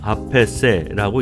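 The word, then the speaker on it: A.P.C.: 프랑스 브랜드여서 불어를 기준으로 아페세라고 읽습니다.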